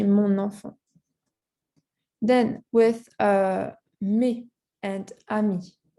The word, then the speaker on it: mon enfant: Same thing for enfant, mon enfant, and not mon enfant. You have to say mon enfant.